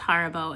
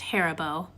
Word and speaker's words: Haribo: I'm sick I'm editing this video and I just realized that it's not pronounced Harbo it's pronounced herbo look it's too late to go back now